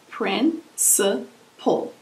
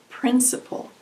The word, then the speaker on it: principle: Principle has three syllables. Principle. The emphasis is on the first syllable. Principle.